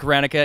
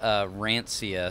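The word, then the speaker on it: Hranica: Yeah, Rancia sometimes, which makes it like CIA when it's ICA.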